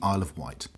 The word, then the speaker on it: Isle of Wight: So yes, the Isle of Wight rhymes with pile of shite.